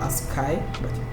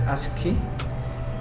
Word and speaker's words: ASCII: under string we have ascii or as kai mostly pronounced as ascii these are letters so